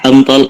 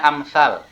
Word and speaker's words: Amthal: Amthal Al-Quran. Pengertian Amthal Al-Quran, kata bukan amthal ya, ini bacanya amsal. Amsal.